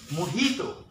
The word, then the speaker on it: mojito: pronounce it must be the correct way to pronounce Ito ok mojito not lose Ito ok mojitos I have a